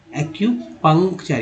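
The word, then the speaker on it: acupuncture: फिर देखिए एक्यू, यू का उच्चारण ईयू के रूप में हुआ है, ईयू के रूप में, तो हो गया एक्यूपंक्चर। यहाँ वाला यू का उच्चारण जो अ के रूप में हुआ, यहाँ वाला यू का उच्चारण ईयू के रूप में होता है, एक्यूपंक्चर।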